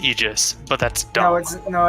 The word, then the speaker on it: Aegis: kick up as I move the the aegis Aegis it's pronounced Aegis but that's dogs no it's an agent yes